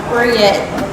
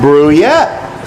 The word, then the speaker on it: Bruyette: your last name is pronounced? Bruyette. Bruyette? Yeah. Bruyette. Sounds like a dessert.